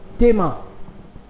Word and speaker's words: Thema: टेमा, yes, normal, tema. H is silent, that is why.